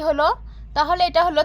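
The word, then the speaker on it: ح: হায়ে কোনো নোক্তা হয় না, তো আমরা এখানে কোনো নোক্তা দেব না। তাহলে এটা হলো হা, হা, হা। গলা থেকে একটি স স উচ্চারণ হবে হা, জিম, হা, জিম, হা।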